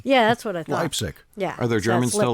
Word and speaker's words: Leipzig: you who don't know lipstick has actually spelled leipzig like leipzig it's close isn't it l-e-i-p-s it sounds exactly like the one in germany yeah that's what i think leipzig yeah are there germans